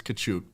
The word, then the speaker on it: Katchouk: I mean, it just happens, but it's Katchouk for full pronunciation. That's right. Let everybody at home Katchouk, like he's not a Katchouk, okay?